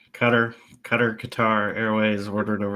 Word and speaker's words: Qatar: Well, I think it's I think the the the correct pronunciation is cutter, but Qatar is widely known as what the West calls it.